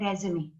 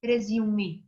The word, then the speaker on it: resume: और आप लोग जो है कुछ लोग उसको प्रोनाउंस पता क्या करते हैं, कुछ लोग कहते हैं रेज्यूमे, जबकि वो भी ठीक है, लेकिन मैं आपको सजेस्ट करूंगी कि आप उसको रेज़्यूमे बोलेंगे।